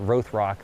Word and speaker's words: Rothrock: Dr. Joseph Rothrock, or Rothrock, depending on who you ask and where they're from. McVeytown, they are so proud of Rothrock, and they pronounce it Rothrock there in McVeytown.